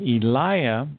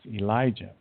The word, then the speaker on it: Elijah: And Eliah is the correct way to pronounce Elijah.